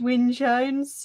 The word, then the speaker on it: Wyn Jones: Wyn Jones. It's a Wyn Welsh Jones. surname. It's about winning.